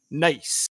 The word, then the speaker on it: Nys: I will talk about the sport later, but first I want to introduce you to the guy today, Sven Nys. That is spelled N-Y-S, Sven Nys.